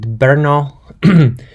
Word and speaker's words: Brno: in the Czech Republic so as you hear me I'm pronouncing it Brno and this would be